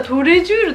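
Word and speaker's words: Tous les Jours: にねそしたら全然違ったトレジュールだってトレイ x レアもうランス号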